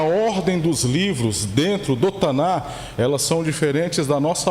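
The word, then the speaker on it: Tanakh: a a pronúncia correta a pronúncia correta Quando você estuda o hebraico é tanar que é cultural né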